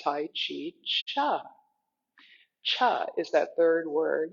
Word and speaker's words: Chih: is called Tai Chi Cha. Cha is that third word. It's spelled Chih, and it's pronounced cha like chuck wagon.